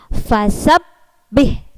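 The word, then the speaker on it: فسبح: Kalau ada tanda tasydid, berarti cara membacanya adalah ditekan. Seperti ini. Fasabbih. Nah, ditekan sebentar. Tidak boleh dilepaskan dulu. Fasabbih.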